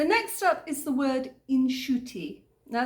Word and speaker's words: inshuti: Okay, so next up is the word Inshuti. Now, it's a really lovely word to say. Inshuti. It's a little bit like the Irish akushla, you know, it's got that soothing sound to it.